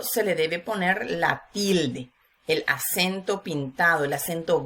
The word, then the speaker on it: tilde: acento solamente no lleva tilde por alguna norma ortográfica que vamos a ver hoy aquí vemos por ejemplo la palabra tilde vemos que steele se pronuncia con mayor intensidad y de con menor intensidad pues la sílaba que